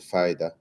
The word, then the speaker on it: Pfida: Uh and they rebranded to FIDA with a silent P, I must add, right?